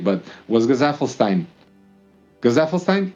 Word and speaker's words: Gesaffelstein: Gazafelstein, that's how you say it. I don't know if anyone knows how to pronounce his name. My German self honestly just goes to calling him Gesaffelstein, but that's probably not correct either.